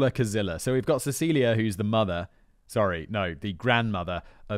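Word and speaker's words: Cäzilia: Note here, it's spelt like Cazilia, but apparently you pronounce it like Cecilia.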